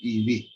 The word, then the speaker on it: eV: It is pronounced as 1 electron volt, 1 EV.